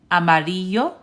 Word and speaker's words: amarillo: So instead of saying Ella, Amarillo, and Lamar, it's actually pronounced ella, amarillo, llamar. Okay? Anytime you see two L's, it's pronounced like the y sound, like a Y.